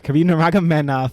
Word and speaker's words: Khabib Nurmagomedov: Yes, Khabib Nurmagomedov and Tony Ferguson.